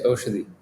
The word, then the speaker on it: Oshadi: Is that correct, the way I'm pronouncing it? Yeah, it's Oshadi. Oshadi.